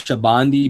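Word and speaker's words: Sabaody: And I pronounce it as Shabandi because the word of that they're using for this archipelago, it comes from the word Shabandi, which is soap, and everything we see in Shabandi archipelago are like soap bubbles.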